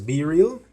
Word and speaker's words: BeReal: the world by storm so it is called be real but based on how it is pronounced I would pronounce it as be real your friends for real so what this app